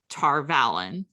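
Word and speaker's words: Tar Valon: they were all moving around and going to Tarvalon. Yeah, um we can call it the right way. We can right, pronounce it the correct way.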